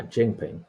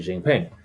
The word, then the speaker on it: Jinping: for me if I spelled it incorrectly ah jingping yeah I did spell it correct incorrectly so it's x i g